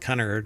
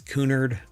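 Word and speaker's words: Cunard: I don't think it's pronounced Connor, right? It's Kunard.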